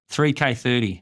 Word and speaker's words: 3K30: Is that how you say it? Like 30 by 30 or 3K30. 3K30. Yeah. So, 3K30 is the tagline.